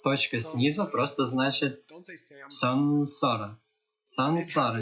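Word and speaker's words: saṃsāra: Поэтому М с точкой снизу просто значит сансара. Сансара. Не говорите самсара. Это произошло, не знаю. Британцы сделали эту ошибку. И это прижилось. Все начали говорить самсара. Самсара. Звучит как имя какого-то парня, правда?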